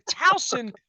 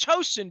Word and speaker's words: Towson: wheel driving here to talson Maryland still pronounced tosen by some folks up there in Bucks County because they don't know better up there uh this